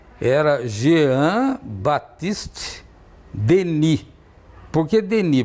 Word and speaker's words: Denis: Por que Denis? Porque o S final não se pronuncia no francês, então Denis.